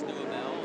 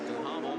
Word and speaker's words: Duhamel: And I know some of you at home are saying, wait a minute, Marty says Duhamel and Thomas says Duhamel. Which way is it? Realistically, it has always been pronounced both ways.